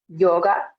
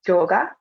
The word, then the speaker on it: yoga: same in Spanish, but depending on how the speaker would say the Y sound, we could have some different pronunciations between yoga and maybe more of a hard J sound, like a yoga.